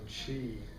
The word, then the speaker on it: qi: old acupuncture depends on chi i'm going to write this up here because this is a chinese word um it said qi but it's spelled q-i and it consists of